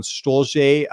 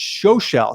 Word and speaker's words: Stolze: Sticking with the welterweight division, we've got Amiev taking on Stolze in this fight, or actually, I said that wrong. It's Schoschel. He's German, so he's got kind of a weird pronunciation of his last name, but he's a newcomer.